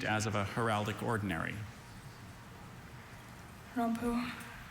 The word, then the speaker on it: rompu: It's used as of a heraldic ordinary rompu. R O M P U. Rampoo.